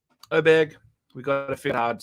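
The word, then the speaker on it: Åberg: the fact that it starts with an A and you have to say oh and people have been saying it wrong the whole time so anyway he's minus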